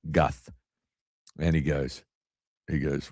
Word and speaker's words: Guth: So somebody's texting me and I said, "It sounds like I'm saying Gus with a lisp, Guth."